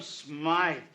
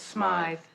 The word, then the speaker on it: Smythe: there you got it the crate called him smythe he knew how to pronounce his name so what does that